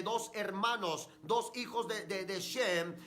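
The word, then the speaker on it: שם: Gafet también se había apartado, y el único que se quedó con Noé fue Sem, que en el hebreo se pronuncia Shem.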